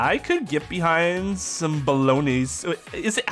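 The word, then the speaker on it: bolognese: could get behind some balone is it how do you pronounce that word b because the G's silent right balone balonis and I don't even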